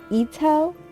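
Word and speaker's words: Itō: then i don't know her last name is i-t-o with a little dash above it so i pronounce it ito but i could be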